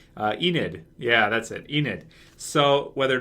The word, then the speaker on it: Enid: Jeez, I always get her name wrong, man. It's such a weird name. Enid. Yeah, that's it. Enid.